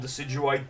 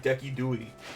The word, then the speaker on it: Decidueye: Also, I can't believe there's people that unironically call Decidueye Deki Dewey. I know there's people that refer to it as a joke, but some people, like, swear by it as, like, how you're supposed to pronounce it.